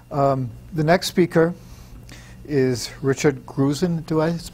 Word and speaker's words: Grusin: The next speaker is Richard Grusin. Do I pronounce that right? S, not a Z. Grusin. Thank you.